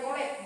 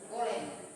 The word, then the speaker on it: golek: Lalu untuk kelompok 5 ya, ada kesalahan pelafalan tadi, yaitu wayang golek bukan wayang goleng ya.